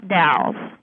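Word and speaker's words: Dalles: The Dals. How do you spell it?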